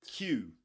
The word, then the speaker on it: queue: Q Q just like the letter Q.